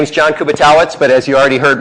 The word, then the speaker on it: Kubiatowicz: we're doing this um my name is john kubatawitz but as you already heard most people call me kubi because they can't pronounce my last name which is fine good